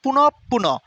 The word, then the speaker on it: পুনঃপুন: ভুলে যায় বিজ্ঞপ্তি বিজ্ঞপ্তি পুনঃপুন এটার উচ্চারণ হবে পুনঃপুন এই যে পুনপ পুনপ